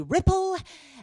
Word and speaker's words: Ripple: so my name is Ripple rhymes with Tipple and I am what's